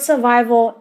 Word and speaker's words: survival: it is a noun the word survival is stressed on the second syllable which means I have